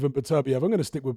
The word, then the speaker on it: Beterbiev: Bivol's jab is actually more solid at the moment than Beterbiev's jab.